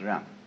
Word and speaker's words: Ren: In Confucius philosophy, the fundamental virtue of a human being is called Ren, spelled J-E-N for reasons best known to Chinese scholars. I don't know what they are, but it's pronounced Ren.